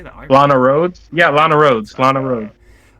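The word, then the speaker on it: Lana Rhoades: But we got Luna Rose. Is that how you say it? How you say the art? Lana Rhodes?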